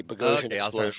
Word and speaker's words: Boghossian: Yeah, it rhymes with explosion but with a B. Bezos.